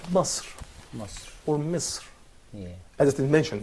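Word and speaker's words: مصر: or Misr, Yeah. as it is mentioned in Quran. But we don't say Masr, Yeah. because again, we don't have vowel here above the letter sa.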